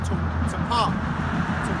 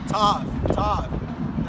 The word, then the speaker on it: Tav: This mark is called Tapah. Yeah, can you get that? So I know how to say it on point. Salakia, bear with me. Yeah, see that mark is called Tawaf. Tav.